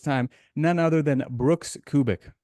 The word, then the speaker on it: Kubik: none other than Brooks kubic did I pronounce your name correctly or is it cubic cubic like a cubic see I always pronounced